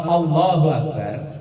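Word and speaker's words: الله أكبر: Kalau Allahu Akbar, A-nya dibaca pendek, itu artinya Allah Maha Besar.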